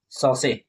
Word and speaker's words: saucier: सबसे पहले आते हैं सेब सौ से। ठीक है? ये फ्रेंच वर्ड है। इसका स्पेलिंग होता है एस ए यू सी आई ई आर। ठीक है? लेकिन इसको प्रोनाउंस करते हैं सौ से।